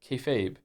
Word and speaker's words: kayfabe: Kefabe is pig Latin for be fake. refers to essentially treating a bit you're doing that everyone understands as fake as real to facilitate the bit and is pronounced kayfabe.